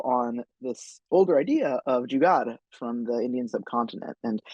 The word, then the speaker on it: Jugaad: And it's spelled, usually it's written with a D because transliteration is terrible, even though you typically pronounce it, at least sort of in my community, with an R on the end, Jugaad.